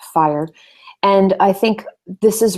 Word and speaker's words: FHIR: as well uh hl7 fire we talked about that that's you know interoperability essentially um fhir is pronounced fire and I think this